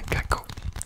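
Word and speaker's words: caquot: Qu'est-ce qu'un caco? Alors c'est un orteil. Un caco. Donc ça s'écrit C-A-Q-U-O-T. Un caco.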